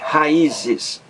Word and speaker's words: raízes: Veja que aí, raízes, no I aí, que é um hiato, ra-i-zes, três sílabas. Esse I aí forma um hiato, que é o encontro de duas vogais em sílabas diferentes. Ra-i-zes.